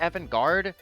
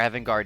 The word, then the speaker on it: avant-garde: how to pronounce that is it evangard or Evan guard a I feel like it's avant-garde says here that it's